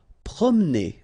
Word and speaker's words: promener: Promener. Okay, don't insist on this here. Okay, so it will go like promener.